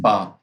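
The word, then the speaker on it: 八: in China, in Chinese, because it's Ba, and in Chinese, Fa. Fa is actually means lucky, and 8 is pronounced Ba.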